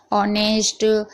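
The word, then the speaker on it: honest: bubbles बोलते हैं अगर एच के बाद कोई भी बबल्स हो यानी मात्रा हो तो एच साइलेंट रहता है यानी कि एच है उसके बाद कोई भी मात्रा है जैसे कि ए आई ओ यू तो एच साइलेंट रहेगा यहां पर आप पढ़ लीजिए ओनर ऑनेस्ट अंबल यहां पर सभी में यहां पर एच का कहीं भी जिक्र नहीं हुआ है कहीं भी एच को नहीं पढ़ा गया है क्यों क्योंकि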